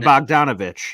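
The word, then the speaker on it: Bogdanović: I can't even never pronounce his name. Bogdanovich.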